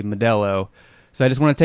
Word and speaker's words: Modelo: and it's Melo Modelo what's the proper way to pronounce that and um I guess the answer I'd been saying medo is probably Modello so I just want